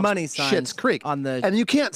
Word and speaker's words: Schitt's Creek: I mean, there's other people that do that to get attention, like Schitt's Creek.